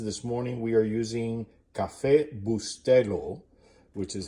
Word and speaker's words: Cafecito: This morning we are using Cafecito, which is how it is pronounced.